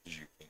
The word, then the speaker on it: Xu'keen: Is it (pronounced) Zu-keen or Zhu-keen? Zhu-keen.